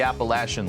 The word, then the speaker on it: Appalachian: Virginia was going to get back into the Appalachian leag and that's how you say it by